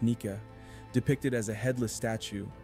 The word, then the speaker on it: Nike: he encounters the goddess Nike pronounced naika depicted as a headless